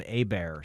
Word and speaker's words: Hébert: No, actually my grandfather was Herb as well, and we called him Hébert. So that was the French pronunciation of Herbert.